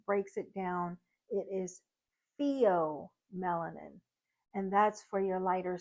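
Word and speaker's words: pheomelanin: that would be theom melanin now some people pronounce it fom melanin but if you look at how the text breaks it down it is Theo melanin and that's for your lighter skin tones um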